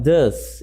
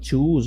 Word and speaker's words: thus: Quando eu tenho palavras começando com TH, vai ter som de D, na mais das vezes, tá? Então, thus e não choose ou qualquer outra pronúncia que vocês tentem falar.